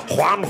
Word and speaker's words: Juan: He's like, basically it's John, but pronounce it differently. Juan, Juan, Juan.